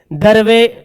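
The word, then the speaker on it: دیر: पढ़ेंगे दिलेर ए पढ़ेंगे दिर नहीं दिलेर देर पढ़ेंगे दीर नहीं पढ़ेंगे देर देखो दोनों सेम लिखा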